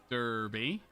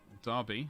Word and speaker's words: Derby: there's birmingham there's nottingham derby darby as it's properly pronounced um yeah i am